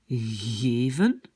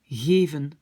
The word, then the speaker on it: geven: Donc, si on prononce ce mot en Flandre, ça va être geven. Geven. D'accord? Alors que aux Pays-Bas, ça va plutôt être geven, geven, geven.